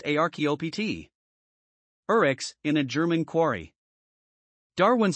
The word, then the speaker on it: archaeopteryx: later scientists unearthed the archaeopteryx pronounced archaeopt urex in a german quarry